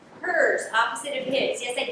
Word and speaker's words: Herz: my name is hers you pronounce it opposite of his for the last name hers opposite of his yes